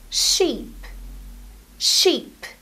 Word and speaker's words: sheep: sound ship ship and the animal is pronounced with a long e sound sheep sheep so ship she ship